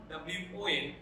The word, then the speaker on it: won: One more example, we won, W-O-N, won. இதை நிறைய பேர் ஒன்னு ப்ரொனவுன்ஸ் பண்றது பார்க்கணும், but right pronunciation of the word, the past form of வின் இஸ் ஒன்.